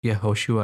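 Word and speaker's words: יהושע: a Jewish man and wasn't his name actually Joshua which is pronounced yahushua and hebrew and then I was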